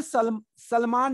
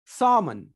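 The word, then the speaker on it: salmon: दूसरा ये सामन है जो फिश है, इसमें सलमान नहीं बोलेंगे, सामन, L साइलेंट।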